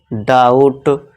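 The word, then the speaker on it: doubt: इसी तरह देखिए टी से पहले फिर से बी आ गया। तो यहां साइलेंट हो जाएगा। तो इसे क्या पढ़ेंगे? डाउट।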